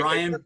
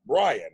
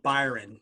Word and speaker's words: Bryon: bad it's the pronunciation i get called byron so frequently that to the point where i just answer to it because people people want to transpose the the r and the y so byron but my